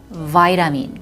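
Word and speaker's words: vitamin: 공부해 보도록 할게요 일단 여러분 비타 미 자 발음 어지게 해요 y 람이 그저 파이 라민 좀 우리 어 종합 비타민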